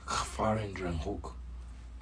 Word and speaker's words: gevarendriehoek: Gevarendriehoek. Like you're hooking it. Gevarendriehoek. It's Gevarendriehoek.